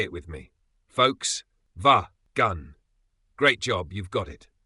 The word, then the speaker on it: Volkswagen: w a g n but here's how you actually say it folks V gun let's break it down